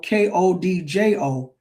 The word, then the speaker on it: Kodjo: And DJ in West Africa languages, DJ or DI or DW is pronounced with the J sound.